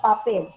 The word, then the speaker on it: papel: Por la palabra papel. Papel. Si nosotros pronunciamos esa palabra, la mayor fuerza de voz recae acá en la última, por él he resaltado con rojo.